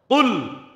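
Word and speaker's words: قل: আহাদ তিনি আল্লাহ এক তাহলে কুল এটা শক্ত কফ উচ্চারণ বাংলায় আরেকটা অক্ষর আছে কাফ এটা বাংলার কর মত স্বাভাবিক উচ্চারণ কোন কষ্ট নেই যেটা কফ আরবিতে একটা শক্ত উচ্চারণ কুল মানে আপনি বলুন এখন যদি আপনি হালকাভাবে উচ্চারণ করেন কুল বলেন বাংলার কর মতো কুল তাহলে আপনি খান কুল মানে আপনি বলুন আর স্বাভাবিক কুল মানে আপনি খান এখন যদি আপনি সূরা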